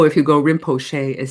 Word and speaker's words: Rinpoche: So as you hear, I'm saying Rinpoche, but you can also say Rinpoche with the chi sound, Rinpoche, or if you say the O, if you go Rinpoche, it sounds really strange.